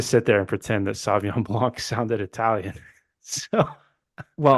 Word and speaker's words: Sauvignon Blanc: There's a whole extra syllable in there.